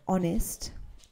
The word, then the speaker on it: honest: example like honor h-o-n-o-u-r that's an example or honest h-o-n-e-s-t the rest of words which begin with each you you have to pronounce the h Hospital Hotel holy happy remember